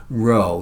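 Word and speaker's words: rho: Row, that's the Greek letter row. It's spelled R H O. And it's pronounced like row, row, row your boat.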